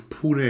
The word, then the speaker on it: Pune: I have never been to India, but I felt Pune, or Pune, I don't know how you pronounce that in English, but I think it's Pune in Indian, in the native language.